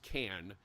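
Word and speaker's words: Cairns: place called KS uh it's actually pronounced can um by the Aussies but it's spelled c a i r NS Karn it's up on the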